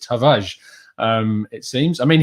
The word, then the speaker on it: Tavares: getting better my pronunciation you don't actually pronounce the the r in a hard way it's just tavage um it seems i